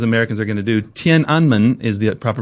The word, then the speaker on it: Tiananmen: mean just educate me on like what was tenan square and am I even pronouncing it right all about yeah not quite right but it's okay as good as Americans are going to do TI anman is the proper pronunciation Tian anman literally means